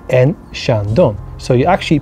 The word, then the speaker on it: Chandon: Finally, number 1, Moet and Chandon. Moet and Chandon. So you actually pronounce the T.